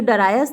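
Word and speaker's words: Darius: एट the other डेरियस, और दूसरे दरवाजे से डेरियस, कहीं कहीं इसका प्रोनाउंसिएशन डरायस भी है, तो दूसरे दरवाजे से डरायस प्रवेश करता है।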